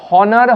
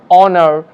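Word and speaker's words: honour: ঠিক একইভাবে এর আগেও আমি বলেছি যে হনার হবে না, এখানে এইচ সাইলেন্ট রয়েছে তাই অনার, এইচ সাইলেন্ট রয়েছে তাই আওয়ার, এখানে এইচ সাইলেন্ট রয়েছে তাই এটা হবে টমাস, নট থমাস।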